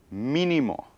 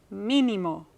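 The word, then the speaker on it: mínimo: okay and these are words that have a stress on the third to the last syllable and these words always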